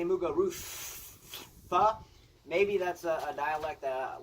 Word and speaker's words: Muguruza: Hate the way they pronounce her name. Muguruza. I mean, I'm Spanish and I don't go Muguruza. But anyways.